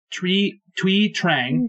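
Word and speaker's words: Thuy Trang: Okay, and I'm not sure how to pronounce this entirely, but Tree Trang? Yeah, Twee Trang, who played Trini on Power Rangers.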